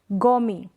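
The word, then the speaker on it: gourmet: Next क्या है, गोमी, इसको हम पढ़ेंगे गोमी, टी प्रोनाउंस नहीं कर रहे हैं, गोमी।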